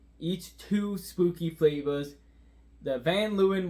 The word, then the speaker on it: Van Leeuwen: two spooky flavors the van Lewin win which is I Googled it I'm pretty sure that's how you pronounce it uh release new flavors